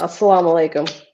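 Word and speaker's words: as-salamu alaykum: Sam Tom said salam al how do you pronounce that allayikum yeah assalam alalayikum yeah wow beautiful so salam your oracle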